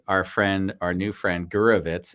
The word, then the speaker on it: Gurwicz: Ronnie, our friend, our new friend, Gurwicz. Is that our correct pronunciation? Do you know what? You pronounce it way better than most people I've ever met. So well done.